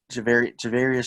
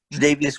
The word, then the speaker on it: Tre'Davious: What's his Javarius White? Is that how you say his name? Tre'Davious White?